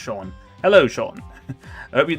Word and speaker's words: Sean: Every time I see Sean spelled that, I always go straight to saying Sheen, and say that's not, and I don't think Sheen's a name. I'm pretty certain it's pronounced Sean.